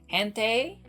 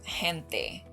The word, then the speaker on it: gente: he changes it to gente, which is the correct pronunciation of this word, which means people. So Spanish has 5 different vowels, and they are all pronounced the same every single time.